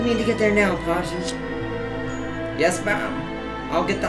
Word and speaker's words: Pageant: I accidentally want to say Pagan, because it sounds like his name it looks spelled like that way. I'm gonna say Pageant. We need to get there now, Pageant.